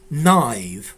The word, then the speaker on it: naive: So, Leffy, definitely, it would be naive without the two dots. Yeah, you've got to pronounce the I sound.